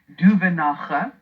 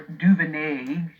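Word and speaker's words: Duvenage: Wayne Duvenacher, or Duvenay. He says he doesn't mind whichever way his surname is pronounced.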